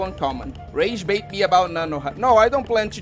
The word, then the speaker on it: Nanoha: Also, there's no na at the end, but I'm gonna keep letting you call her Nanohana.